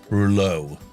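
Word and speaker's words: Reuleaux: still selling them Germany super compact French Rulo r e u l e a u x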